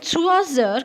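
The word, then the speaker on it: trois heures: Il est 3 heures, combined it will be z. It's 3 and it's heure, but combined the pronunciation will be 3 heures.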